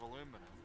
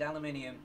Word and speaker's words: aluminium: are made out of aluminum no it's for anybody watching this stream if you're awake that we have the british and american pronunciations we've got aluminum and aluminium both on the same channel you heard it here